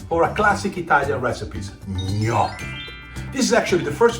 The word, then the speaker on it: gnocchi: Uh, just like you say lasagna or my last name.